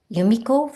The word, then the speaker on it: Yumiko: But you can remember my name by Yumiko, which is like you, me, or Yumiko.